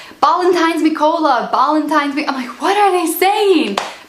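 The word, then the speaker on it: Ballantine's: So Ballantines is a type of whiskey, but they don't pronounce it Ballantines, they say Ballantines, and I had no idea what he was saying.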